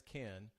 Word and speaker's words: Cannes: I was saying, but it turns out it's Cannes. Oops, I'm looking at the wrong camera. For all of you who want to say it right, of course, we already know not to say the S. Right. But I was getting the A wrong.